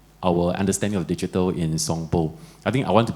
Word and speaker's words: Sompo: It's Sompo. I don't know whether it's not Sampo.